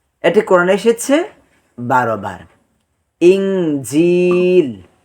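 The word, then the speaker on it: إنجيل: কোরআনে এসেছে 12 বার ইঞ্জিল ইনজিল ইনজিল ইনজিল ইন দেখেন এখানে হামজা নুন জের ইন কিন্তু এখানে আমরা অনুস্বরের মত উচ্চারণ করতেছি ইন বা যেভাবে দেখতে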